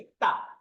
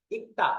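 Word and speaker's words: 읽다: তারপরে ইলগুসেয়, এটা মূল শব্দ ইক্তা, ইক্তা, এটার বানানটা আমি আমার ছাত্রদেরকে শেখাই এইভাবে, যেহেতু এটা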